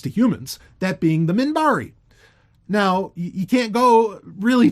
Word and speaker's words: Minbari: Do you want to know how she pronounces it? Moonbari. Moonbari. There's no U in the fucking spelling of it even.